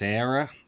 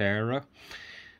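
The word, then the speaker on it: Éire: irish harp on it it has error or air depending how you pronounce it but in ireland it's era and it's 1996 this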